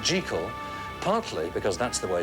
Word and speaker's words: Jekyll: And Stevenson always insisted that the name be pronounced Jekyll, partly because that's the way Scots people said it, and partly because it meant that Hyde and Jekyll rhymed with hide and seek.